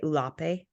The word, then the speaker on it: Ulape: And then when they demand a share of the bass that is, I would say, Ulape found.